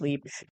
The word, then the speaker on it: Libre: Not Mon Paris Libre, And yes, it is pronounced Libre, cuz I used to work for YSL, and I used to love correcting people on that.